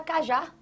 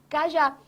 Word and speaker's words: cajá: Você tem aqui, ó, cajá, você tem uma oxítona porque a sílaba tônica da palavra se encontra na última posição, na última sílaba. A última é que recebe essa tonicidade.